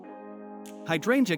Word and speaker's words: hydrangea: The key is in the second syllable. Think of drain like a water drain.